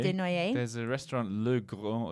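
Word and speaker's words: Dénoyez: Denoyer. Denoyer.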